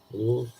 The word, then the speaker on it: Bouse: Yeah, Bouse. That's how you spell it. Booze.